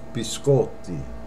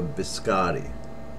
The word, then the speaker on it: biscotti: It's biscotti. And I hear a lot of Americans say, can I have a biscotti? Incorrect. Biscotti. And that means cookies, plural. Biscotti. Not biscotti.